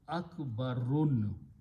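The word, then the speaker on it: أكبر: If I put an alif in the beginning and pronounced akbarun, this is the rule of making a superlative degree.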